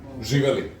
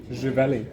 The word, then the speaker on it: Živeli: Živeli. Živeli.